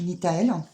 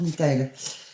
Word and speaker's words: Nithael: dire comment ça s'écrivait l'archange nthel c'est un ange pardon excusez-moi c'est l'ange nitael l'ange Nita s'écrit avec